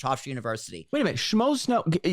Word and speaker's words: Schmoes: Schmoes Know. How do you spell it? I think I know what it is. SCHMOES. Like the average schmo.